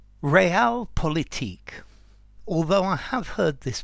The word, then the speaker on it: realpolitik: real politique although I have heard this pronounced real politique as well okay this is an uncountable noun